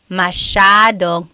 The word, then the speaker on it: masyadong: Masyadong means a lot. So the S-Y-A is a sha sound. Masyadong.